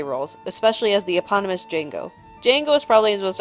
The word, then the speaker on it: Django: For a final cool fact, Nero made a brief cameo in Quentin Tarantino’s Django Unchained as more or less his most famous role. “The D is silent.”